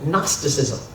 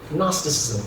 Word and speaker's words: gnosticism: Faith was something called gnosticism gnosticism with the the whole like silent G going on there right for people who